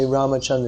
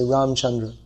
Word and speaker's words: Ramachandra: Even if they say Ramachandra, they won't say Ramachandra, they say Ramchandra. It's a common name. So it's you could say it's a linguistic practice that people have to drop the last vowel. If the last syllable is a vowel in most Sanskrit words that are spoken in, when they're spoken in Hindi, in almost all cases it's dropped.